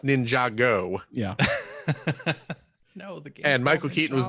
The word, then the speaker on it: Ninjago: Java okay first of all it's pronouncing it's pronounced Ninjago yeah and Michael Keaton was not involved in